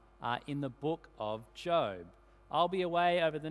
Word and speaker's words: Job: of those people uh your your name is spelled one way but pronounced you can kind of Imagine job he's on the phone he's saying yet j-o-b I know it's spelled job but it's pronounced job uh if you're one